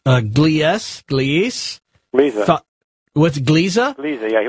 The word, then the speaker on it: Gliese: help me with this is how this is pronounced. Gliese?